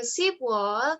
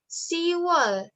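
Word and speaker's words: 시월: Jadi kalau bulan 10 yang seharusnya Sibwal, tapi untuk memudahkan pelafalannya jadi Siwal. Biepnya huruf biep, konsonan biep ini dibuang jadi Siwal.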